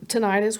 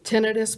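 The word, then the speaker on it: tinnitus: believe right around there because he started getting tenius which is actually pronounced properly tenus but nobody oh I didn't know that I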